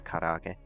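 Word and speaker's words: 唐揚げ: By the way, it's karaage.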